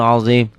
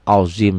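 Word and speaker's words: عظيم: Azim, zo ini azim, ZHO, ZHO kalau berbaris patah. Ini azim.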